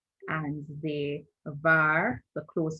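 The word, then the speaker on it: דָּבָר: You realize that I say var, and it's because the soft pronunciation of the bet.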